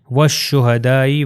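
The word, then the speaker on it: والشهداء: والصدیقین۔ اگلی میں بھی آپ دیکھ سکتے ہیں والشہدائی، وا جو ہے وہ شین سے مل جائے گا اور تلفظ ہو گیا والشہدائی۔ اور اگلی ایگزامپل جو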